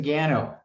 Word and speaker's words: Gano: well how about gano if i pronounce that right you did good morning uh my name is gaino i am the government